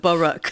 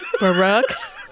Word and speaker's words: Baruch: how you technically pronounce it, Baruch. Baruch. It's two syllables.